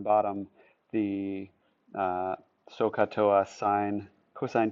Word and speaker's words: cosine: Don't say cos. Say cosine.